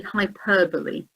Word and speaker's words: hyperbole: The next one now, always amusing because people sometimes mix up the pronunciation of this word. It's actually hyperbole.